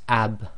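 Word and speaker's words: اَبْ: then Ba being sakin, it will be pronounced ab, ab. And there's a slight echo where the dry portions of your lips have to separate in order to complete the sound.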